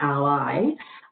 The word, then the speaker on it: Ally: So what is Blackboard Ally?